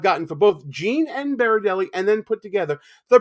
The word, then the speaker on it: Berardelli: my whole life too, Berardelli is not the way it's spelled. I always tell people to pronounce my name as Yogi Berra going to a deli. Berardelli makes people a lot more at ease with saying it.